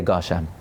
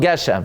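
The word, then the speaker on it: גשם: But there was a certain reactionary response that, well, oh, the maskil said Gushem, now we're going to say it wrong, Geshem.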